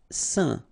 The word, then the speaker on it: saint: Saint. Okay, combination of A, I, N, phonetically will give you this un pronunciation.